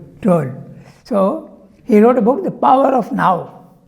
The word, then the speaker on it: Tolle: That's why Eckhart Tolle, I think. Tolle, yeah. How do you pronounce it? Tolle or Toll? Tolle.